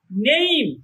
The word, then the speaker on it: name: আবার NAME নেইম, এম এর জায়গায় গিয়ে উচ্চারণ থেমে গেছে, নেইম, শেষের উচ্চারণ আসে নাই।